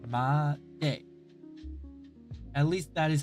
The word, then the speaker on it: まで: I think the D is around the front to the middle of the upper part of the mouth. Ma-de.